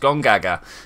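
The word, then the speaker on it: Gongaga: south of the river that is actually how that's pronounced gone gaga chef Ralph I guess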